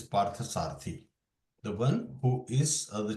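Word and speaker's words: Pārthasārathi: of that same now the pronunciation of Pari not par sarati it is PARTA sarti the one who is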